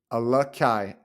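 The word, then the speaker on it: Alakaʻi: right let's see okay oh just so we all know how to freaking say it alakai alakai alakai Gilman so that's how you say it okay now let's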